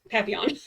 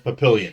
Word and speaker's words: Papillon: It's Papillon. Oh, well, whatever. I read it as Papillion.